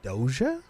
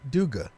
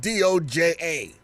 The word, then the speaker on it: Doja: It's pronounced Doja? What did you think it was pronouncing it? Yeah, I want to hear that. Duga.